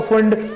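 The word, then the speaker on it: Pfund: 5 में आएगा तो फंड। ये सारे के साथ p फंड नहीं है ना, p साइलेंट है, फंड वो जो पैसा चाहिए होता है ना, अपन को फंडिंग चाहिए होती है, फंड।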